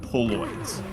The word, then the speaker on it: Poloids: Because I heard I first heard pool boys like you know uh boys who work at the pool and you know more like Polaroid.